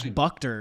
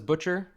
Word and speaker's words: Butcher: I thought it was like Buchter or something. I don't know. I haven't tried to look into it. Okay. I pronounce it as Butcher. Okay, well, it's spelled Butcher, so I guess it's probably Absolutely, Butcher. yeah.